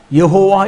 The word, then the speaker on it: 여호와: 모음을 야로 힘들다고 그래서 야외 같으면 첫음이 야화가 되기 때문에 그렇게 대해서 리가 없다 하는 생각이 들고 또 여호세바 여호수아 여호사부학 여호아난 여호와하스 여호야긴 여호락 이렇게 여호라는 것을 그 예사로 사용한 것을 볼 때 발음을 하나님의 이름을 2인칭 호격으로 여호와 이렇게 부르지는 않았지만은 발음이 여호와가 맞다는 생각을 할 수 있다는 거예요 그리고 거기에 여호와라는 밑에